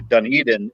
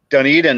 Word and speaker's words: Dunedin: in Clearwater, which is right next door to Dunedin, and Dunedin is actually a sister city to a town in Scotland that's spelled the same way, Dunedin, but we pronounce it Dunedin, and they pronounce it Dunedin.